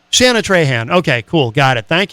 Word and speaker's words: Shana Trahan: Is it Shaina Tran? Tran. How do you say your name? Shana Trean. Uhhuh. Shana Tran.